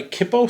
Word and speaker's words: Kippo: So today I'm going to try Kippo Stout from Upper Hand Brewery. That's how you pronounce it.